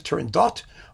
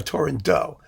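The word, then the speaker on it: Turandot: course a question of how do you pronounce turin though is the turin dot or torin do the question is the answer is you do both it makes no difference nobody cares and most people hedge their bets by having a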